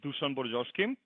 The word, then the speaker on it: Dusan Borjoski: information with your community uh my name is dusan borjoski that's how you pronounce correctly but you know uh when it